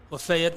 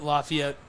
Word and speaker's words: Lafayette: a little laugh about how to pronounce lefet Lafayette or leet depend where you're from yeah that's a real